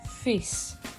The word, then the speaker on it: fils: Le fils. We do not pronounce the L here.